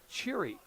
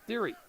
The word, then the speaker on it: Thiry: Coach Koenig said that it's actually pronounced Cheery. instead of Theory.